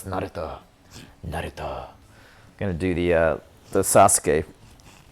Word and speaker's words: Naruto: okay because I mean, we still call him Naruto sometimes, even though it's Naruto. Naruto. Gonna do the Sasuke pronunciation.